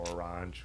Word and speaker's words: Orange: we were in provance we actually went through orang which is pronounced orang the city um but it's funny